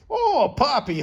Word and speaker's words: Poppi: And Poppy. Okay, you were pronouncing that right.